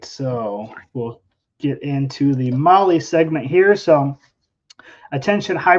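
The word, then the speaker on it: MAHLE: And for all of our podcast listeners, Molly is spelled M-A-H-L-E.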